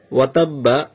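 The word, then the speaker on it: وَتَبَّ: তারপর দেখুন ওয়াতাব্বা, ওয়া হরকতের কায়দা, তাব্বা এটা তাসদীদের কায়দা। আর এখানে ওয়াকফ চিহ্ন আছে, ওয়াকফ করার সময় উচ্চারণটা কেমন হবে? উচ্চারণটা হবে ওয়াতাব।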